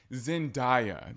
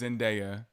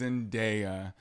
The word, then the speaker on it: Zendaya: that lady name wrong stop saying Zendaya that girl's name is Zendaya she said it Google it if you don't believe me her name is Zendaya Beyonce when it says